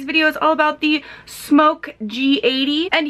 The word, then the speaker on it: SMOK: is all about the smoke g80 and yes this is pronounced smoke the only reason some